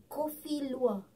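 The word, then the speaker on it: Kopi Luwak: Coffee lua. Lua. Yeah. Actually, it's coffee lua.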